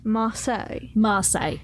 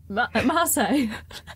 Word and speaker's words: Marseille: Marseille. So, yeah, the band name that you've just asked me to pronounce is a very well-known place in France. Yes. Okay. Great. Yeah. Marseille.